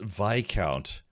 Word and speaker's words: Viscount: Is like the S kind of silent? Yeah. V Visa V uh v Viscount. What the hell is a Viscount anyways?